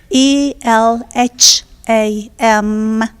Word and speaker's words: Elham: And your name is spelled E-L-A-N? ELHAM, Elham, it means inspiration.